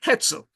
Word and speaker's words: Hetzel: Jean-Pierre, I always get the first parts of the name wrong, I stand to be corrected, Hetzel, Hetzel, a talented, brilliant entrepreneur, and it is a match made in heaven.